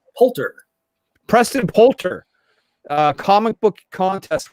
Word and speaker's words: Poulter: Poulter.